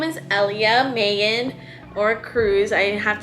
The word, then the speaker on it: Elia: didn't like my name elia because people always mispronounced it they'd always be like elia elia elia but it's ellia you know just kind of ellia ellia ellia so i just it's girl it's grown on